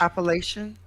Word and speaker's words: Appalachian: BC has mountains, and somewhere between Vermont and Quebec, there's the I don't know how to say it in English. Appalachian? Yes, that's how. I was like les Appalaches.